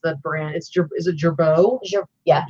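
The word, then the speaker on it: Girbaud: Yeah, but this is actually, I don't remember how to pronounce the brand. Is it Gerbeau? Yeah, Gerbeau.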